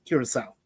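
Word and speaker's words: Curaçao: That's how it's pronounced. Curacao.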